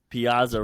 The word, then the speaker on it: Piazza: And then for Team Italy, Mike Piazza, because I'm Italian, so I'm gonna say it correctly. Piazza rocking that stash.